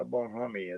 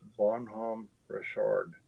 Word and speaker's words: Bonhomme Richard: gonna correct him on one thing it's not about homie it's bonhomme richard bonhomme bonhomme richard is how it's pronounced on palm richard it's french but yeah